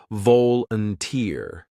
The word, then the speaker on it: volunteer: country repeat after me remember stress the last part of volunt uner it's volunteer that helps your pronunciation sound natural now imagine you've just